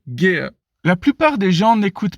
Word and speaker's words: Gere: Oui, on est tenté de prononcer Gere, mais non, c'est bel et bien Richard Gere.